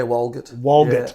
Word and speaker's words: Walgett: If we go back in time, this kid from Walgett is now, I'm pronouncing that right, aren't I? Yeah, Walgett.